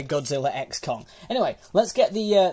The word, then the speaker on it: Godzilla x Kong: Kong the new Empire I know it's probably just pronounced Godzilla Kong but it's got an X in the title so I'm going to say Godzilla X Kong anyway let's get the